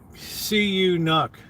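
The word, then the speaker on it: Canucks: to win it's good it's not pronounced like that it's CU you knok and here they are ladies and gentlemen your Vancouver SE you knock let's get ready to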